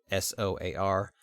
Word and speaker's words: SOAR: SOAR. SOAR also is what that would be pronounced as.